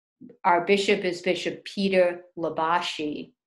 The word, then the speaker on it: Libasci: But our bishop is Bishop Peter Labashi. You spell his name Libasci, Bishop Labashi.